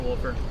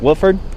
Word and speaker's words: Wolfer: Officer Wolfer, 65. Wilford? Wolfer. Wolford? How do you spell that?